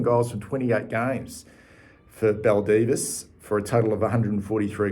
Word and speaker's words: Baldivis: In June of 2018, he left South Fremantle and signed with, now, this is how you pronounce it, Baldivis, known as the Brumbies in the Peel Football League in WA.